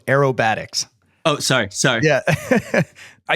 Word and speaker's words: aerobatics: so appreciate both those I'm not one to correct I will say it's pronounced though aerobatics oh sorry sorry yeah